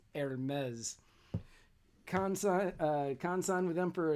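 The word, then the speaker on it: Hermès: to say that hermes it's not hermes like it's spelled it's pronounced hermes khan signed with them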